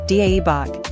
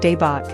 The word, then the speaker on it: 대박: The vowel in dae-bak is an open a sound, like air without the r. Avoid making it sound like dae-bok.